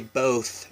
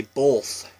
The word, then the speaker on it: both: In Washington, we don't say both. We say both. For some reason, we throw an L, like a slight L in there, so it's both of you guys.